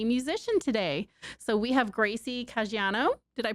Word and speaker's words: Gracie Caggiano: So we have Gracie Caggiano. Did I pronounce that right?